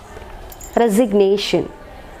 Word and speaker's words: resignation: stress so far above resignation resignation so in this word nation the primary stress is marked here as we mentioned we